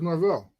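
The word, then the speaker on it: Norvell: his name coach norl Norwell how do you say his name is it isn't isn't Forida State coach Norville Norville yeah I thought it was Norville he's got cornrow as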